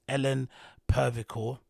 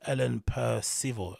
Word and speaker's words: Ellen Percival: This news, courtesy of Resident Advisor, it says Ellen Pervicor, don't know how you, is that you pronounce it, Ellen Percival, sorry, Ellen Percival, aka DJ Mooncup, identified as person who had died after attending Bangface.